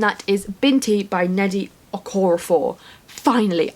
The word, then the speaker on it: Okorafor: is binti by nnedi okorafor finally I kept saying aquaphor and I don't know why but then every time right oh that's wrong I'd go back to say